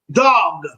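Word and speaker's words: דג: Dog. Dog. It's almost sounds like dog.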